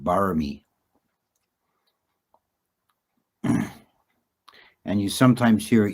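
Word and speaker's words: บารมี: In Pali, it's generally parami, and in Thailand they pronounce it barami.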